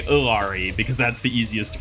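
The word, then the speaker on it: Illari: dies too time to try again yeah the pronunciation ofari is by Blizzard's own declaration ilari ERI is like from what I've understood the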